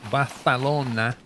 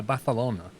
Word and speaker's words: Barcelona: He puts his tongue between his lips and when he says it and says, yeah, Barcelona. Barcelona. It's really weird the way the Catalonians pronounce that letter.